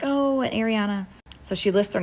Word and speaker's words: Ariana: I'm like how do you how do you pronounce it and she's like Ariana Kyra Ariana I was like how do you spell Kyra